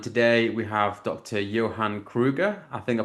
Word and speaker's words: Krüger: Johann Krüger. I think I pronounced that correctly, right?